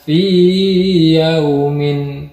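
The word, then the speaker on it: في يوم: Karena kalau dibaca idgham fi fi fi fi yaumin, itu nanti madnya hilang. Madnya itu maksudnya mad itu adalah panjangnya. Jadi dibacanya fi yaumin, bukan fi, enggak gitu.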